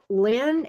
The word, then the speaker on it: Linh: And then, okay, the next one after that is Lynn, and it's spelled Linh.